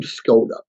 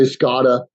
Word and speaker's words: Skoda: say your name wrong now my last name skoda it's about to say Scotta sakota we guess the code it's k-o-d-a it sounds exactly like it's spelled but more often than not it gets mispronounced so when someone asks me